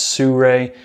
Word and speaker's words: Sirui: Sur va5 fluid head now supposedly it is pronounced Sur even though it doesn't look like it it's supposedly straight from the company heard it pronounced a lot of different ways but I guess it is Sur and they are pretty well known for their